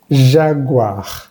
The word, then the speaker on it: jaguar: Veamos un ejemplo. Jaguar. Jaguar. Al final, esta vez sí suena.